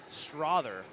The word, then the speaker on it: Strother: Getting word here that Sam Strother is actually pronounced Strother.